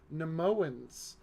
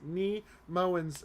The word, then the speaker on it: Nemoans: blight or the advanced nemoans I'm sorry neem Owens they're pronounced me moans and I keep falling into nemoan um they're going head-to-head